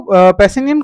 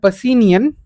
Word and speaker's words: Pacinian: Also, you have to remember that Pacinian last part rhymes with onion.